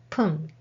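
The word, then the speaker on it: 分: hours and next one whom means minute and sometimes be pronounced as pun Han means have and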